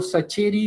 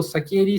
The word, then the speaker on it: Sacheri: es de es de Eduardo sacheri o zakeri Según uno prefiera pronunciarlo de una manera u otra eh Y que es